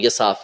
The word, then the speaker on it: یصاف: کہ ہلال بن یصاف، یا ان کو ہلال بن اساف بھی کہتے ہیں لیکن صحیح جو تلفظ ہے وہ یصاف ہے، انہوں نے وہ زمانہ